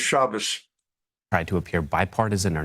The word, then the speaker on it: Shabbos: Obviously, the proper pronunciation of his name is Shabbos.